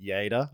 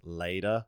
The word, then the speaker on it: Lleida: I know the town is called Lleida. I've had to learn this over my many times coming to Spain and saying your town wrong. It's spelt Lleida. And as an English-speaking person, I would say Lleida. Lleida, yeah. Lleida, yeah. But it's Lleida.